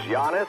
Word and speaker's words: Giannis: ted davis the bucks play-by-play guy it is giannis and yet you keep putting this man